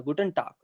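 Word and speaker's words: Guten Tag: Proper क भी नहीं आएगा बट हल्का लाइट रहेगा। गुटन टाक। गुटन टाक। लगेगा कि गा बोल रहे हैं। गुटन टाक लगेगा कि गुटन टाक बोल रहे हैं। बट होता वो एक्चुअल में का है बट वो हल्का लाइट रहता है।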